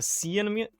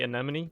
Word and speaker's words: anemone: what the is this a sea enemy how do you enemy right you say anemone that's how you pronounce this sienna money it's just a low it's a tough word